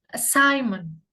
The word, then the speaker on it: assignment: Assignment. Silent letternya adalah G ini ya. Assignment. Assignment. Assignment. G dan N ya. Assignment bacanya seperti itu ya.